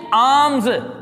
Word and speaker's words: alms: Next example is the rich man was giving आर्म्स टू the poor, ALMS, L जो है silent है, खैरात भी का लफ्ज वैसे भी अच्छा नहीं लगता, खैरात कहते हैं खैर का काम।